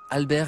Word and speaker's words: Albert: I said it's the same, but just don't pronounce the T.